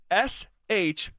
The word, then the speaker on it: Shough: Like, why is his name Shuck? No, it's Shough. And we come away with Shuck. I struggle with it. GH is silent, huh? Shuck. But there's no C, there's no K. The spelling of that, like think of the word rough. Rough. It's the same thing.